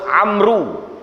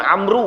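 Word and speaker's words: عمرو: juga sahabat nabi namo dia Amal the washboard Amru Sebenarnya bukan Amru Hai Na mode bukan Amru Hai Amel Amel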